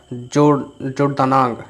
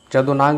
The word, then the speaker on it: जदोनांग: तो वो थे आपका 74 नंबर क्वेश्चन का हो जाएगा जोरदानांग, है ना, ये जदोनांग उसका पूरा नाम था। तो यहाँ पर थोड़ा सा प्रोनाउंसिएशन गलती लिखा है, ये है।